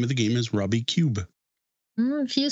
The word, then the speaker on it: Rummikub: And Rummy Cub was actually the second game to ever win the Spiel des Jahres, making it a pretty solid classic in my book.